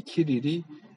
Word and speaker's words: 키릴: 그러니까 이제 이 키릴, 알렉산드리아의 키릴이라고, 이게 C가 라틴어로 뭐 C로도 발음하고 키로도 발음하고 그러거든요. 스로도 발음하고. 그래서 이 키릴이 이제 너는 양자론자야 라고 얘기해.